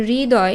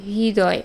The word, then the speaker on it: হৃদয়: একটু জটিল উচ্চারিত হয় যেমন হৃদয় এই শব্দটা দেখো আমরা উচ্চারণ করি হৃদয় কিন্তু আসলে এটার শুদ্ধ উচ্চারণ কি হৃদয় আর এইচ আই মানে এভাবে লিখতে হবে আবার সুরিত বা আরিত